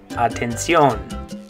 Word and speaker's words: atención: In Spanish you're going to say atención. Atención. Good, in English it's attention. In Spanish you say, good job, atención.